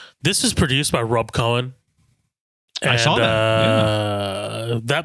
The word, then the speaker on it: Cohen: This is produced by Rob Cohen. And, I saw that. That means you like Fast and Furious by proxy. So. Oh yeah. What is that? I thought this is his name. Cowan. No, it's Cohen.